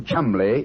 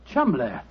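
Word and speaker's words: Cholmondeley: had no reason to know that the name Chumlee is in no way pronounced the way it is never thought of that Chumlee that name spelled c-h-o-l-cell m-o-n-man D e d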